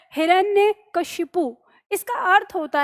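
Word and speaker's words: हिरण्यकशिपु: में रखना है की शब्द है हमारा हिरण्य ठीक है ऐसे याद रखिए हिरण ने और फिर के शिपु इस तरह से याद रखना है तो हिरण ने के शिपु अब ये भी चीज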